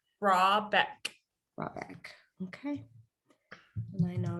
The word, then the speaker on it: Rahbeck: Rahbeck.